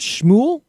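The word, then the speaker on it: Smule: this app on her phone called, is it Shmool? Smool? Smool, I guess Smool. is how you pronounce it.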